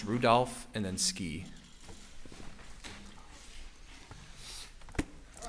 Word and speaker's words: Rudolph: Special Agent Rudofsky, that's R-U-D-O-F-S-K-I, and it's pronounced Rudolph and then Ski.